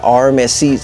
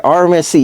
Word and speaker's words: RMSc: a hollison Swamp Fox there's a rmc's am I saying it right I feel like I'm not saying it right what is it the rmc's right yeah rmsc yeah okay I just